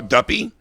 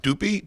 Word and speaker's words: duppy: yeah that's suspect uh duppy like dupe how's this spelled how does it spell like a puppy but with a d really okay d-u-p-p-y doopy duppy yeah i don't know